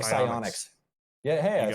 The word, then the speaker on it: Psyonix: It was ran by, I can't remember the company's name or I can't pronounce it right that makes the game, but it's like Psyonix.